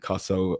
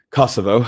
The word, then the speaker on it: Kosovo: el Albania, North Macedonia, Bosnia and Herzagabana and Kasovo and Kasovo there. Jesus that's a shocking pronunciation Kosovo.